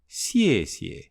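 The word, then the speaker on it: 谢谢: "Ie" trong bính âm được phát âm giống như phần đầu tiên của YEAH: "ie", xièxie.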